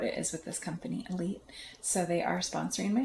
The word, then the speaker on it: Elyt: So the sponsor for my show is called Elite, and it's spelled ELYT, Elite.